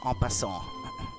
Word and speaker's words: en passant: and prove your innocence en passant. I don't know if this is how you pronounce it in English, but in French, that's how you would, because this is French.